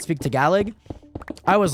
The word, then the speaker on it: Tagalog: how I've been told that's how you pronounce the galag to be fair I pronounced it Tagalog for the longest time and like nobody ever